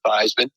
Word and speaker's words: Theismann: think by just simply changing the pronunciation of your last name from Theismann to Theismann, you would have a chance to be able to win the Heisman Trophy."